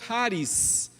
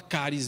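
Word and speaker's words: χάρις: um outro detalhe interessante ele usa a expressão haris eh eh esse esse Kia é quase impronunciável para nós né Eh então a gente pode falar caris mesmo com som mas não é é um haris tudo bem esse essa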